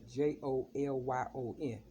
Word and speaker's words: Jolyon: If you put it all together, Jolyon. So that's like Joe Lyon.